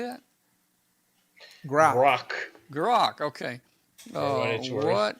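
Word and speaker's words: grok: Grock.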